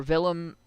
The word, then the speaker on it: Willem: Is it Wilhelm or Willem instead of William? Jenzoon? Probably. In 1606. Willem Janszoon.